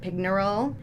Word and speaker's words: Pignerol: Sent to the fortress of Pignerol, I think that's how you pronounce it, Pignerol, in the Alps.